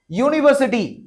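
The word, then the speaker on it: university: यूनिवर्सिटी। बच्चे कई बार इसमें कंफ्यूज हो जाते हैं क्योंकि इसकी स्पेलिंग तो यू से स्टार्ट है। तो कहीं ये वोवेल तो नहीं। हमेशा स्पेलिंग किससे स्टार्ट हो रही है? इससे फर्क भी नहीं पड़ता है। आपको आवाज पे ध्यान देना है।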